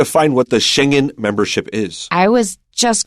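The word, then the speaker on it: Schengen: They just use the German pronunciation. They speak a dialect of German in the country where that particular village is found. So Shenhen is a village in Luxembourg.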